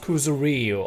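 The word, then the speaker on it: Kuzuryu: Okay, so it's pronounced Kuzeru.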